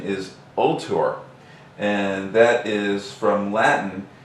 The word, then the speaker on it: Ultor: stock or EOD actually the name isn't really volor believe it or not everybody I'm sure calls it that but the real pronunciation is ultor and that is from Latin meaning Avenger and